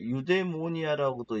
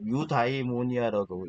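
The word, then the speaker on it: εὐδαιμονία: 여기게 유데모니아라고도 있고요. 유다이모니아라도 있고 에우다이모니아라도 있습니다. 근데 이것은 뭐 발음의 영역이니까 유데모니아라는 개념을 주장했어요.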